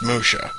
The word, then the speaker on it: Musya: it is Emoto Saga Musha yes that is pronounced Musha uh this game pretty much just imagine like